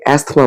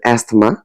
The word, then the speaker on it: asthma: অনেকে এটাকে asthma বলেন, but the pronunciation is not asthma, it's asthma.